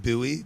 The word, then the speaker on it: Bowie: question your dog your brother's dog's name is Bowie is that because of Bowie Maryland or yeah it's pronounced Buoy Maryland yeah although it's spelled like David Bo's